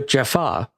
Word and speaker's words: Jaffa: Is it a jaffer or a jafa? Because in the show they're actually spelled the same. Ah well FFA. Yeah. Yeah. But in the show they're called the Jaffa.